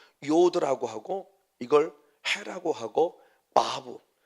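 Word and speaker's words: וָו: 그래서 요드라고 하고 이걸 해라고 하고 바브. 독일어적인 발음은 바브. 그냥 일반적인 발음 때는 와우라고도 하고 바브라고도 하고 이 글자가 있어요.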